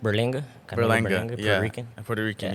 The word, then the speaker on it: Berlanga: But I wanted to talk to you about Canelo and his fight September 14th with Berlengo. How do you say it? Berlenga.